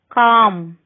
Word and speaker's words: calm: L is not pronounced after the vowels A, O and U. Calm, folk, kid.